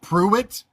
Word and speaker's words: Prewett: I'm sure it's pronounced Pruitt, but it was Prewett.